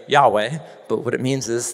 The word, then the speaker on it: Yahweh: one who is uh in Hebrew you pronounce that name Yahweh but what it means